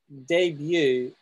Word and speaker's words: debut: write it in here debut is pronounced like french debut it's not debunked right it's not debit